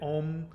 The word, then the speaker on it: Om: actually an NG sound so the actual sound is a long o with an NG sound oh you can close your lips if you want make it ohm but the ng sound has to be there even a lot of